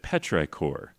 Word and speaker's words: petrichor: petrichor cool yeah so that's that's how you pronounce it petrichor what isn't it is it's the pleasant smell